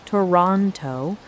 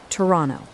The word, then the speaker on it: Toronto: Not Toronto, but Toronto, smooth and clipped the way the locals say it.